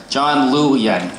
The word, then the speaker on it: John Liu: Thank you, except that you got the name slightly mispronounced. It's John Liu Yan.